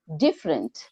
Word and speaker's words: different: degree degree degree then different di is underlined so different good different then doing d